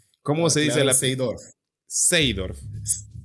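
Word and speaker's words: Seedorf: Seidorf. Seidorf.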